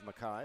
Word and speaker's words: Makai: I had a clue it was Makai, but I just wanted to make sure.